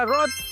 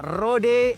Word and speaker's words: Rode: Rekomendasi yang pertama ada Rad AI1. Kalau di kita biasanya bacanya Rode AI1.